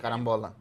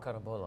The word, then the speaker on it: carambola: How do you say Carambola. that? Oh, carambola, of Yeah, course.